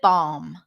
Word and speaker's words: balm: of your hand okay lip balm so not balm but balb totally you can totally drop the L here speaking of dropping write